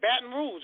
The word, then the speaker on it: Baton Rouge: um what you talking yes what is it baton rouge right am i saying it right yeah that's